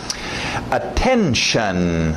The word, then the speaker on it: attention: Attention, lembra do shun, esse T-I-O-N no final, né? Notion, station, relation, dedication. Shun, aquele som de X-A-N, shun.